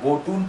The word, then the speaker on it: botn: जाता है, लेकिन इसका अंग्रेजी में जो इसका स्पेलिंग है CWM है, स्विस पढ़ा जाता है। नॉर्वे में या बोटून पढ़ा जाता है, BOTN होता है।